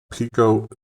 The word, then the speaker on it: Peco: found this interview by cnn business of actual pico and i am pronouncing it right and i'll show you right